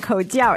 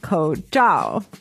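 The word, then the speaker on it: 口罩: But the real pronunciation is not Koujiao. It's Koujiao. C-H-A-O. Yeah, C-H-A-O, which actually means like to cover.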